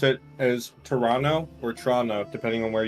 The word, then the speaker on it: Toronto: But they've never said the second T.